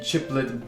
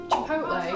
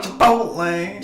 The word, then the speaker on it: Chipotle: One of these meals is called the cheesy chiplet bean. Cheesy what? Cheesy chiplet. How do you pronounce that? It's a food chain. Chipotle. Chipotle.